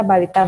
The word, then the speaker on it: balita: Misalnya balita nih kan kependekan dari bayi 5 tahun, tapi dibaca balita, bukan BALITA. Ini kan namanya ringkesan kalau BAILTA.